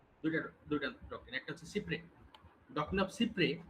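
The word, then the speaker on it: cy-près: এটা আবার doctrine of সিপের একটা উদাহরণ বলতে পার এটা একটা ফ্রেঞ্চ ডকট্রিন ডক্ট্রিনটার নাম হচ্ছে doctrine of সিপ্রেস সি ওয়াই আরই ডবল এস বা সিপ্রে কারণ ফ্রান্সে এস উচ্চারণ হয় না যেমন লুইস শব্দের অর্থ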